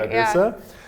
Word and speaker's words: Ragusa: My name is Findlay-Shirras, and today we're here with Ragusa, the VP of Tribus Technologies. Did I pronounce that correctly? Yeah, VP you got Product Ragusa, right? Ragusa.